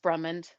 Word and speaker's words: Brummond: with we have brumond is that the right way to say your last name uh just brummond okay brummond i